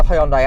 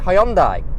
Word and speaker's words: Hyundai: It's a right I'm given, and they want us to pronounce it Hyundai now. I believe that is closer to the original Korean pronunciation.